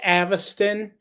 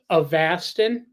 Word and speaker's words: Avastin: The second option was to go on this thing called, I call it Avastin because that's how it's spelled, but it's pronounced Avastin.